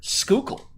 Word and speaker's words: Schuylkill: will say i do know how to properly pronounce the word schuylkill the is the word decker